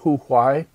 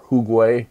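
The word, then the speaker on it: 胡瓌: artists, an artist named Hu Huai or Huguay differently pronounced Kitanese painter Nhon Chinese that is who was active in the early 10th century.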